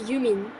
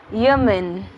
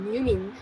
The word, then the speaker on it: Yumin: It's Yumin. Yemen. No, Yumin.